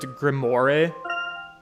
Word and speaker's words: grimoire: less from a gentleman the librarian would pronounce it grimoire the grand grammar the